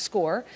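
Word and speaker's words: Scoir: That's what you see on the screen, S-C-O-I-R. It's pronounced SCORE.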